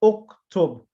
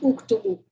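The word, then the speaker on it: اُكْتُبْ: Taktubu to uktub. Not uktubu. No, uktub. As you know, the ba is silent from before. So it becomes uktub. Uktub.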